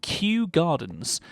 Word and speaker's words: Kew Gardens: design is uh is a place called Q Gardens that's spelled Kew Gardens you can go and